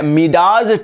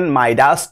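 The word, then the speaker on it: Midas: मिडाज touch का मतलब क्या होता है? प्रोनाउंसिएशन माइडास टच होता है।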